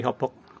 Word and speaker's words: Hauppauge: Jadi pastiin kalau semuanya DHL-nya itu beneran dikirim dari Hopok, kota Hopok, Hauppauge. Di sini ada ya. Di sini ada. Ini bagian ininya ada. Tulisannya Hauppauge, dibacanya Hopok, New York 11788 USA.